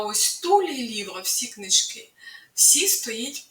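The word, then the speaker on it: tout: сьогодні Познайомимось з прикметником ту дуже дивним прикметником давайте спочатку роздивимось уважно його граматичні форми У чоловічому роді в одни дні звучить ту пишеться ти на кінці яка не читається приклад тульліва вся книжка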